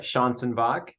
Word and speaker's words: Schanzenbach: say your last name again yeah it's uh Sean sinbach and yeah it's a mouthful but yeah thank